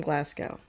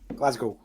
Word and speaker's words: Glasgow: My My guest all the way from Glasgow. Glasgow. Oh, sorry. No, no, please correct me. That that American accent coming out. Glasgow. Okay, I will say it right.